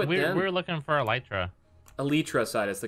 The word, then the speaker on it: Elytra: We're looking for Elytra. Elytra side is the correct pronunciation.